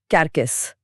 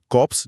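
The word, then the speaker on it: corps: कॉप्स, कॉप्स, कैरकेस। तीनों मौत से जुड़े हैं लेकिन संदर्भ अलग है। कॉप्स जिसका उच्चारण कॉर होता है। पी और एस साइलेंट है।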